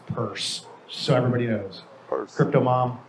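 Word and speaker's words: Peirce: pronunciation of her name it's not pierce it's purse so everybody knows crypto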